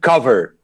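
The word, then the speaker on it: Qover: We call it Cover.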